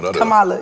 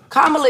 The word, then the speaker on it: Kamala: on what's her name Cala Cala no Kamala we need to I thought we just switched it to kamla kamla is the real it's how you really pronounce it Kamala um Harris CS